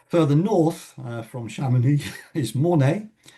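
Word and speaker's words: Mornex: And then a little further north from Chamonix is Mornay. I believe it's pronounced without the X.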